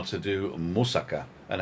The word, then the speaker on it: moussaka: And he taught me how to do moussaka and how to pronounce it. Moussaka, not moussaka. It's moussaka.